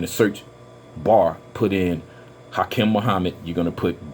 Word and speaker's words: Hakim: search bar, put in Hakim Muhammad. You're going to put both names together, and I know in Arabic it's pronounced Hakim.